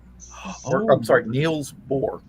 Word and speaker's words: Niels Bohr: the guy was Neil Bohr's. Or, Oh. I'm sorry, Niels Bohr.